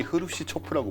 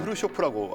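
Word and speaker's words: Хрущёв: 돌아가고 그 와중에 당시에 이제 소련 공산당 서기장이 그 우리가 흔히 흐루시초프라고 부르던, 흐루시초프 아니에요? 요즘은 흐루쇼프라고 하더라고요. 왜 이렇게 바뀌었죠? 그러게요. 우리 발음이 옛날 역사책이나 그러니까.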